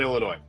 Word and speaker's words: Illinois: We don't pronounce the s on Illinois and it's peing, not pecking.